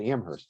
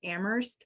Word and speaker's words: Amherst: You say the H in New York. You do not say the H in Massachusetts.